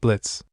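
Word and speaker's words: Blitzø: For the last funking time, it's just blitz. The O is silent.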